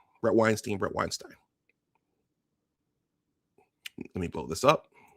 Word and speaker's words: Weinstein: Brett Weinstein. Let me blow this up. Brett Samuel Weinstein. Weinstein. See, I'm trying to find an uh uh a middle ground between the two pronunciations. I'll just say Weinstein.